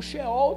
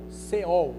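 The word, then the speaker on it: Sheol: e falar Ades tá o xol também pode né o c e e xol ou pode também só o c e o e e o ol seol né são duas pronúncias que tá correta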